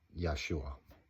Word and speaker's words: Yeshua: I think that you need to understand that Yeshua does not translate into that name. It does not transliterate into that name. It was pronounced Yeshua.